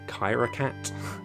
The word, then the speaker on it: Kyrakat: And then the last one is from Kyrakat, that's how you pronounce it.